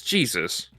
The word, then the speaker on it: Jesus: I'm I'm gonna be honest because it's like it just it it's Jesus but it's pronounced in the Spanish is Jesus.